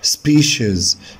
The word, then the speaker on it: species: species species طبعا السي اي اي اس هنا هتنطق شز شز. species species roots roots بمعنى جذور.